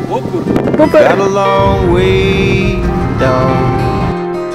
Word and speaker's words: Bober: You have to say it like you're Polish. Booker.